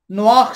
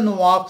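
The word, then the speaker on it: נח: से, हजरत नोआख से, नोआ कहा जाता है, नोआ नहीं है एक्चुअली, जब आप इसको स्पेलिंग लिखते हैं NOAH तो ये क्योंकि हिब्रू वर्ड है तो इसके अंदर नीचे जो से जो डॉट जब डलता है तो वो खे की आवाज निकालते हैं, नोआख जो है बनता है।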